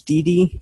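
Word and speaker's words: DEDE: Excuse me, I believe the way it's pronounced is DD. It's D-E-D-E.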